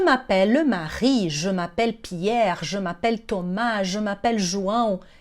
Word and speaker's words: je m'appelle: Então esse je, o e, que tem a vogal e, ele é mais fechadinho. A gente não vai dizer G. Fechem a boquinha.